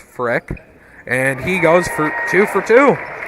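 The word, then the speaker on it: Frerk: As Justice Freck with the first basket. As that'll be the first points of the night. His last name is spelled F-R-E-R-K. Looks a little bit weird, but it is pronounced Freck.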